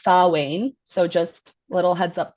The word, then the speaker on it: Samhain: social media, and but it's spelled differently than it's pronounced. So it's spelled Samhain, but because it's Celtic, it's pronounced Samhain.